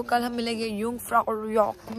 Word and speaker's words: Jungfraujoch: Jungfraujoch. The J is silent. So I guess आज का दिन यहीं पर खत्म होता है, तो कल हम मिलेंगे Jungfraujoch में एंड हम वहाँ पे कंटिन्यू करेंगे हमारा नेक्स्ट डे का व्लॉग.